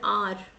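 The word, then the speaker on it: hour: See, we pronounce R as R. H is H in R is silent.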